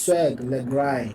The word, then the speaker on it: Swaggerlegrind: So, at that point, I'm like, oh, my name is really hard to pronounce, but I'm like, yo, it's it's swag lry.